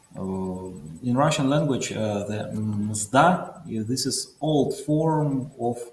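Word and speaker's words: мзда: In Russian language, the mzda, this is old form of payment.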